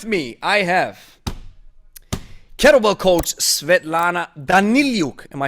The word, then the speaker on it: Svetlana Daniliuk: and gentlemen with me i have kettlebell coach svetlana danilyuk am i saying it right absolutely okay now